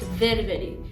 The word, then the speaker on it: ververi: As you can hear, this word is pronounced ververi. In Armenian, this means up.